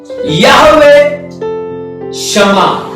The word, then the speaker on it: Yahweh Shammah: 6वां नाम है यहोवे शमा। यहोवे शमा, यहोवे शमा। इसका स्पेलिंग आप ऐसे लिख सकते हो, YAHWEH SHAMMAH, यहोवे शमा।